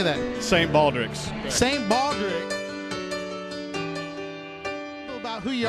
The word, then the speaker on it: St. Baldrick's: St. Baldrick's.